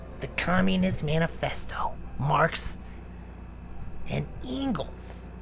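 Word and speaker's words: Engels: communist manifesto marx and ingles i wish i knew how to say his name it's like eagles eagles it's really weird marx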